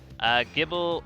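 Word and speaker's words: Gible: Gibble, but the G is pronounced like it is in GIF.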